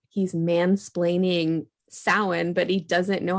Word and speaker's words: Samhain: He explains Samhain, but he pronounces it. He writes it on this chalkboard and he pronounces it Sam Hain.